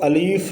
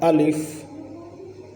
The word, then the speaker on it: الف: گے۔ الف، الف، الف، اس کو الیف نہیں پڑھیں گے، اس کا جو تلفظ ہے وہ ہے الف، الف۔ با، با، آپ